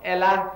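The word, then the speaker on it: אלה: Ella, E-L-A-H.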